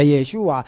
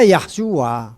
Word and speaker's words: Yeshua: Tapi kalau Yeshua ya Yeshua. Nggak ada Yahshua.